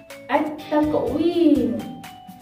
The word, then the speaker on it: التقويم: أولا التقويم. في النطق لا نسمع حرف اللام أي. في الكتابة لا يوجد عليها أي حركة. وحرف التاء بعد اللام يكون مشددة، مثل كلمة التكوين، التكوين، التكوين.